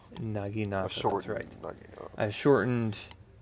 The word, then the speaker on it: Naginata: Your how'd you pronounce it again? It's a Naginata. Naginata.